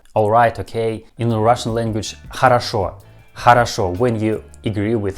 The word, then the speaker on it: хорошо: Pay attention that this word has two letters O. I mean first two letters O, but we pronounce these two letters O like a.